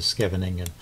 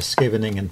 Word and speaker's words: Scheveningen: at the town of Scheveningen, which I guess is pronounced actually Scheveningen, according to Chess Explained, but I'm going to stick with something a little easier to pronounce.